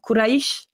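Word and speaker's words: Quraysh: tout cas c'est les Quraïsh. Je le prononce bien ou pas? Quraïsh? C'est bon. C'est bon, les Quraïsh.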